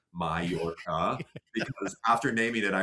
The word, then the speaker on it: Mallorca: parentheses spelled out phonetically, Mallorca, because after naming it, I realized most Americans most most English speakers aren't going to realize that two L's is a ya sound.